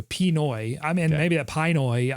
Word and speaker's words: Pinoy: Pinot. No, it's not Pinot Grigio. Pinoy.